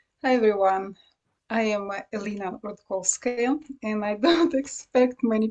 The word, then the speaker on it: Rudkouskaya: be amazing sure hi everyone i am elena rudkolskay and i don't expect many people to pronounce my surname it's a challenge i understand